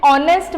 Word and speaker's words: honest: An honest man, you can see that I am pronunciating it as honest, even if it is